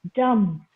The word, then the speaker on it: dumb: Okay, the last B is silent. It is bomb, comb, dumb, land, climb, thumb, tum.